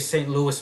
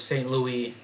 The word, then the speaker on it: St. Louis: English pronounce it like the city of St. Louis, Missouri is St. Louis, but it's not St. Louis, it's St. Louis.